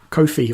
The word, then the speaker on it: Ko-fi: Or if you just want to buy me a coffee, there's a Ko-fi or coffee, however you pronounce it, link on the page as well.